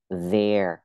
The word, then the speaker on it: there: Cái từ there có hai cách đọc, dạng mạnh là đọc là e, there. Dạng yếu đọc là the. Thì cái này viết dạng yếu á, mình có thể đọc there hoặc là the cũng được ha.